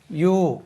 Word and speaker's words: ewe: பெண் ஆடுக்கு யூ உச்சரிப்பு, EWE. இதுக்கு உச்சரிப்பு யூ.